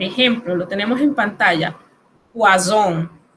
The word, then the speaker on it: poison: Por ejemplo, lo tenemos en pantalla, poison. Aquí se pronuncia una Z bien sonora, significa veneno.